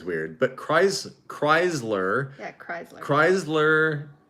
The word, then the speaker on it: Chrysler: but christ chrysler yeah chrysler chrysler in our area they say like almost like it sounds like it's a zed sound now for that one